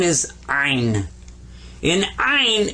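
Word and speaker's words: عين: this guy's name is ein in iron you kind of squeeze the back of your throat when you pronounce this one and i i was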